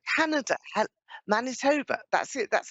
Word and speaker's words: Manitoba: the line now is this Lori in um monit TOA Canada Manitoba that's it that's how you pronounce it hello helloa okay okay my geography